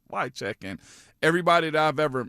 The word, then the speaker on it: Wycheck: and hearing his name, not knowing how to say his name first and foremost, and then understand like it's just Wycheck.